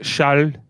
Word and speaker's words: Charles: like Charles. You don't pronounce the S.